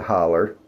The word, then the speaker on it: hollow: Some people in the Appalachians, at least some people would pronounce it holler.